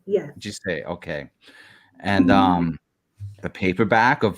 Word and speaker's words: GISEI: copy of remind me how to say it, GISEI? GISEI, yes. GISEI, okay.